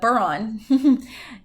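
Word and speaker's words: bodhrán: The Buron, that's how it's actually pronounced, that which deafens, and it's one of the oldest and simplest musical instruments.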